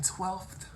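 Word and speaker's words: twelfth: Also, I know that I'm a nerd for this, but I do pronounce the elf in 12th, the word 12th. Most people just say 12. I don't.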